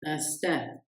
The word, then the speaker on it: instinct: Instinct, instinct, instinct. On ne prononce ni le c ni le t.